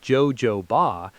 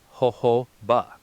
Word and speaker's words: jojoba: While people accidentally read it as jojoba, the standard American industry pronunciation is ho-ho-ba. First part, a funny laughing sound starting with an H or a long garden watering hose.